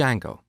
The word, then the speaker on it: Django: popular framework called D Jango so it's spelled with a silent D and it's pronounce Jango